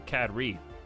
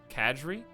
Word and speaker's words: cadre: can't hear the voice cadre or cad reed cad why are you always writing g's what is the letter g in that for anyway we're getting psionic shields like badge kadri kadri is that how you say it catch like badge